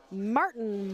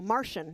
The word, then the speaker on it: Martian: We have got Martin Mahler up against familiar face Pipsqueak. No, Martian, not Martin, right?